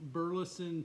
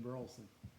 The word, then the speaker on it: Burleson: It's not a silent E.